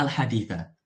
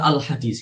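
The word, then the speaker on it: الحديثَ: Maksudnya adalah di sini teman-teman sekalian, kita bacanya al-haditha. Ya, karena kita sering kan lihat khatib-khatib Jumat itu setelah menukil, setelah meriwayatkan, setelah menyebutkan hadis ya, biasanya mereka mengatakan al-hadis gitu. Al-hadis.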